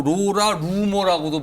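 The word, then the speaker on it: Laura Loomer: 로라 루머예요이라 루머 뭐 발음은 뭐 로라 루머라고 발음하고 로라 루머라고 발음이 되네요 하필또 이름이 그러네요 또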